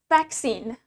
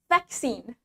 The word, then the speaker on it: vaccine: it garage means garage the next word we have vaccine vaccine in British accent the stress is in the first syllable vaccine vaccine accent this dress is on the second syllable vaccine vaccine vaccine means